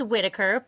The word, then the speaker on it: Whittaker: It's Whittaker, but is great.